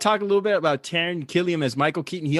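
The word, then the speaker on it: Taran: Is that how you pronounce his name? Yeah, Taron.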